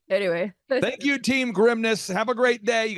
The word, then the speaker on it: Grimnes: this dad he's like think of it as like the grimness of the situation I'm like Dad that's not good say that no don't it's no like anyway thank you team grimness have a great day